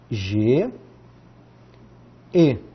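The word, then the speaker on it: γῆ: Uma palavrinha bem típica que a gente usa muito na escola é G, E.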